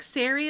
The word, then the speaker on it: Sari: And you're like, oh, it's like Sari, like Gary, and I'm like, oh, let me write that down so I don't forget.